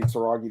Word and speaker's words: Saragih: I guess you say Saragih, that's how you pronounce it, just because all the finishes on his record.